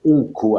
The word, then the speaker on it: ONCO: Ces travaux sont initiés par l'UC2M et par le nouveau groupe thématique que nous avons créé et qui s'appelle ONCO. Alors, prononcé O-NCO.